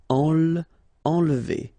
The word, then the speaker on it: enlever: Okay, nasal here, en, and then don't insist on this here. Enlever.